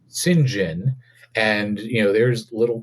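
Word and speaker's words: St. John: was it was spelled like St John but pronounced singen and you know there's little kid me going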